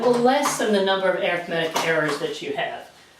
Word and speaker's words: arithmetic: lessen the number of arithmetic errors that you have arithmetic is how you pronounce arithmetic when you're using it as an adjective there's your English lesson